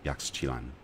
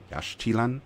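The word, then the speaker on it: Yaxchan: Koba and one in Yak Chan Yash Chan I think it's I think an X in the Mayan language is pronounced as a sh sound so I mean it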